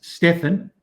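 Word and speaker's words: Stephan: bass my twin brother that's stefan that's how that's pronounced s-t-e-p-h-a-n he's a bass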